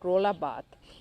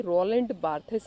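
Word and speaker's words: Roland Barthes: I remember that my dear friend रोला बाथ। ये pronunciation देखिए बेटे इनके नाम की, रोलैंड बार्थेस नहीं है, रोला बाथ।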